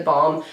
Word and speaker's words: balm: b a l m I always like feel like I'm pronouncing it like bomb like b o m b like bomb like but I'm saying balm balm and balb Balm it's